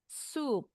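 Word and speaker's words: soup: tulisannya S O U P sup. Hati-hati salah baca.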